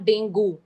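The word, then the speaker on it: dengue: देखो, हाँ चलो डेंगी से स्टार्ट करते हैं। पहली बात है उसकी pronunciation, it's नॉट डेंगू, इट्स डेंगी, ठीक है। कोई डेंगू नहीं बोलेगा, कोई डेंगी ही बोलते हैं सब, ठीक है।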